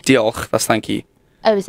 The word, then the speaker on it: Diolch: I know it's spelled oh, you've put me on the spot now. I can't remember. Diolch. Diolch, that's thank you.